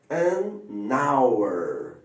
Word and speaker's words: hour: Agora, essa palavra aqui, por exemplo, hour, a pronúncia dela não é hour. Então, quer dizer que esse H é mudo, é como se ele não estivesse aqui.